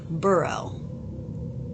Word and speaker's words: Burwell: The plantation house was built in the 1930s by William and Frances Burrell. It's spelled with a W, but it's actually pronounced without a W.